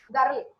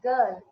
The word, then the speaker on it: girl: offers in indian context many of us will say girl it's not r is not audible okay it should be pronounced girl okay it is it